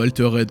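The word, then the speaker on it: Altered: du petit nouveau français alterd ou alter red pour ceux qui prononcent à la française et enfin le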